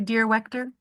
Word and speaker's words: Dierwechter: Dierwechter. Good morning. I'm here. Good morning. How do you say your last name? Sorry. That's okay. Dear Wechter.